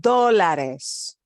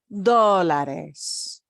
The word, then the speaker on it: dólares: So I have to add an ES on dólares. Dólares. And you'll notice we punch the O at the very beginning more.